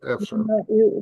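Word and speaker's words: אפֿשר: Это слово древнееврейского происхождения. Читаем не так, как пишется. Эфшер.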